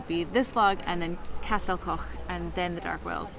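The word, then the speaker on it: Castell Coch: He said the name of the next place that we're going, Castel Koch.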